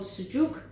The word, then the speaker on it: sucuk: So I bought these, I kept one unsliced to show you, these Turkish sausages, which are called sucuk, and it's spelled S-U-C-U-K, but you could use any sausage you like.